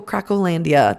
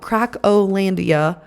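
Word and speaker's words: Cracolândia: If you should Google, you should Google Crackandia. That's the gringo way of pronouncing it. But it's literally called Crackolandia. That's what the Brazilians call it.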